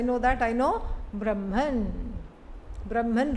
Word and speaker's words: Brahman: Brahman rhymes with German.